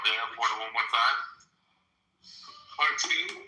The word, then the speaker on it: Khartoum: Khartoum? It's in Khartoum. Khartoum? Oh, the ancient city of Khartoum. Kartum, I think. It's KHART. Oh, God. I badly misspelled it. Wait, say it again. Khartoum. No, spell it again.